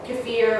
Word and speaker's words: kefir: So kombucha, sourdough, kefir or kefir, however you like to pronounce it, those kinds of ferments need a culture to start.